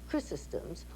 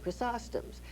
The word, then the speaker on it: Chrysostom's: I was christened in an Episcopal church there called St. Chrysostom's, or some people say St. Chrysostom's.